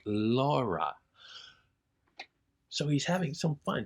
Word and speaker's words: Laura: It when taken as just orally, when you hear it, of course, though, it is pronounced Laura.